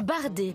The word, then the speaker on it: bardé: Le bardé, pas le barré, Thierry.